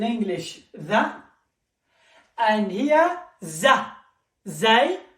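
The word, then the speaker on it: ز: Zay, it's exactly the letter Z. Zebra, for example.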